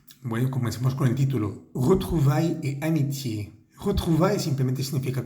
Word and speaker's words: retrouvailles: De retrouvailles. Retrouvailles. La primera, esa E suena como una E francesa.